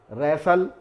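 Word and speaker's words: wrestle: इसी तरह से ये सारे वर्ड्स हैं जिसमें रेसल, रेसलर, रेसलिंग यानी कुश्ती का अगर कोई गेम होता है, मैच होता है, तो उसको रेसलिंग कहा जाता है। वहाँ पर भी ये वर्ड जो है टी साइलेंट होता है।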